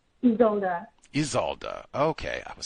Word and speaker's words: Isolda: one uh is it Aalda? Can I say it? Is that correct? Aalda. You you can you can you can call me. Okay. How do you pronounce it correctly? Your name though? Isalda.